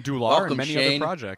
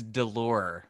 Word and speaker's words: Dolour: shane tutmark um from dooloff hi shane how's it going and actually it's delore it's about that's kind of my my own pronunciation of it i like it yeah